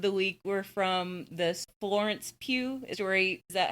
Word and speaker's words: Florence Pugh: All right, my comments of the week were from the Florence Pugh story.